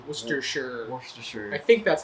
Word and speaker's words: Worcestershire: So the Worcester, that part is pronounced Worcester, Okay. and then Shire, Worcestershire.